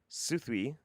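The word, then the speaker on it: Southwell: you today jeff here's another one south well pronounced suthwy suthi suth god damn it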